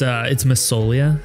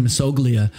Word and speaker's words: Massoglia: How do you say your last name? Because maybe I just... Oh, no. It's Massoglia. It's Italian. Dude, I was doing Massoglia, like a lot of people like do that.